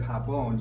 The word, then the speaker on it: jabón: The J has a more guttural sound than it does in English. We just, instead of jabón, you'll hear for a moment as Avelino pronounces this. Jabón. Japón, roja, garaje. Okay, so we have some examples here.